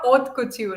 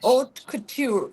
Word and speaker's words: haute couture: But I I know I'll try um the art of oat couture. Did I get it right? Yes. A little softer. Oat couture in French. Oat couture.